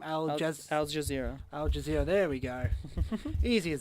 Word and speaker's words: Al Jazeera: Aussie cricket chief hits back over corruption claims made by, and I can't pronounce that name, Al Jazeera. Al Jazeera, there we go.